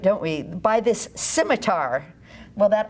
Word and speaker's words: scimitar: Scimitar has that hard R at the end.